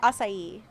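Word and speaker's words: açaí: strawberry acai lemonade yeah you said it right acai I hate I hate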